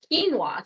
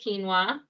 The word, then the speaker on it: quinoa: So this is quinoa, what it looks like when it is cooked. This is, you'll see it in the grocery store, it's spelled Quiona. So if you're looked at that word and you're like, how do I pronounce that?